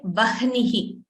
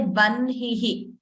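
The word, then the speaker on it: वह्निः: First n is heard, and then ha is heard. We don't pronounce it as hna. We don't say vahnihi. We say vanhihi.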